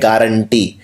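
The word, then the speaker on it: guarantee: ये नहीं है स्पेलिंग इसकी, जी के बाद यू लगता है, इसको लिखते हैं गुआरेंटी, लेकिन बोलते हैं गारंटी।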